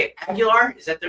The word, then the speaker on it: Aguilar: And do we say it Aguilar? Is that the right way to say it? Aguilar. Aguilar.